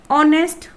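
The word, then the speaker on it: honest: जैसे हम यहाँ इसको ऑनेस्ट बोलते हैं तो यहाँ पर एच की जो साउंड है वो नहीं होती, बल्कि क्या है, एक वोवल साउंड है, ऑनेस्ट मैन।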